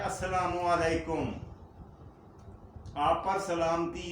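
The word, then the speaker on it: السلام عليكم: Meme के ऊपर पेश लगाकर ओ की आवाज निकाला करें। अस्सलामु अलैकुम, वाव नहीं है, ये याद रखें।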